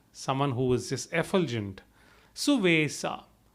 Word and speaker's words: Suvesa: Suvesa. It's again a Avadhi pronunciation. The Sanskrit equivalent would be Suvesha.